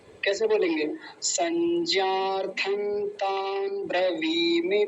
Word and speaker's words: संज्ञार्थं: लेकिन सत्यम जी एक जगह छोड़ गए फिर आप, यहाँ पर संज्ञार्थं तान् ब्रवीमि ते, यहाँ भी अनुस्वार हटाएंगे तो न लगा देंगे, आधा न। कैसे बोलेंगे? संज्ञार्थं तान् ब्रवीमि ते, ऐसा।